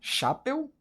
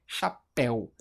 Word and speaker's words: chapéu: A gente fala chapel ou a gente fala chapéu?